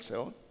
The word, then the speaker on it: Seol: ¿Han escuchado el Seol? Si esto dice pronunciando bien seol. Seol es una palabra hebrea. Yo no entiendo nada de hebreo, pero es mi labor explicarles y entender un poquito esto.